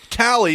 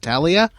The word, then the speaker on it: Tali: these A's off of it because she's Tally, not Talia.